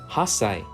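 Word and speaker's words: 八歳: letter ha and then hold the S sound for one beat before saying Sai so hold the S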